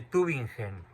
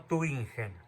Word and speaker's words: Tübingen: otra ciudad alemana, que es la escuela de Tübingen. Y para estos señores, cuya corriente funda ese señor Bauer en Tübingen, Alemania, Jesucristo es tan solo un símbolo. No, Tübingen, no Tübingen.